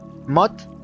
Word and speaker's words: một: Một. Mod. It sounds like mod. It's the same mod.